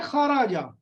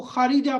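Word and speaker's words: خارجة: یہ الگ بات ہے کہ وہ غلط ہوگا، لیکن درست تلفظ ہے خاراجہ. یہ تو میں نے آپ کو بتایا کہ درست تلفظ خاراجہ ہے تو آپ کو پتہ چل گیا. باقی جو ہے وہ ویسے تو کچھ بھی پڑھا جا سکتا ہے. کوئی کہتا ہے میں اس کو خارجہ پڑھتا ہوں، تو الفاظ کو پڑھنے کا.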